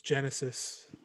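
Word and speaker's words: Génesis: be an absolute stud i wonder if his name is actually genesis or we just butchered that it's genesis that's pretty cool there's an accent on the e and that's a pretty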